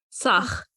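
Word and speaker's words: Tzach: It's like hawk. What? It's like it's spelled like T-Zach. People, okay, T-Z-A-C-H. Hawk, hawk, sock, sock. Sach.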